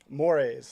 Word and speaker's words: Mores: Mores. Like Mores. I got more A's in school than anybody else.